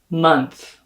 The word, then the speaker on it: month: The O spelling is going to be realized as an like in my pronunciation of the word stuff. And that TH is not going to have any phonation or buzz here in your vocal folds.